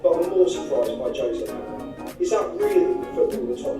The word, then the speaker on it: José: Everybody says my name wrong because I'm not Jose. Jose is Argentinian. I'm not Argentinian. Everybody calls me Jose. I'm not Jose. I'm Jose.